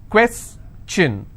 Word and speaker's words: question: If I have the word question, how many syllables? 2. Question. Alright, and I will stress here, question.